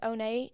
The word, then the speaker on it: One: And then the oh nay part is because it's spelled like one, like O-N-E, Yeah. but it's pronounced oh nay.